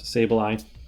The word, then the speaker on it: Sableye: and someone else asked about sableye it is pronounced sableye uh and yeah so without further ado let's